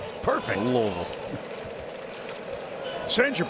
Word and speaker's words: Louisville: It's not Louisville. Correct. You have to get a little guttural with it. Louisville. Is that right? Perfect. Louisville.